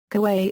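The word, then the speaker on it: かわいい: Kawaii is pronounced kawaii.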